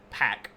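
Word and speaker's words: 백제: here's peka and I know it's spelled with a B but you actually say it with a p sound it's kind of like a almost like a a a puffing of the lips like a PE like a u which could be a b or could be a p but uh the modern version is pack which P which is a pretty common um in Korean um so yeah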